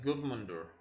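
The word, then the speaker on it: Guðmundur: word the in yeah it's pronounced like good mundur good mundur yeah I think I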